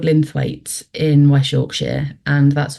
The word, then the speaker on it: Linthwaite: So yes, you're in Linthwaite. Is that the pronunciation, the town, and Yeah.